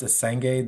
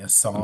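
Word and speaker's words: Essengue: The last thing I'd say is that Noah Asenge, I guess his name is pronounced Asenge. This whole time I've been saying Asong.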